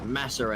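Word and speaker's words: Massa: 2016, you had Filipe Masa and Filipe Nasser, but the way the British commentators would pronounce that is Masser and Nasser.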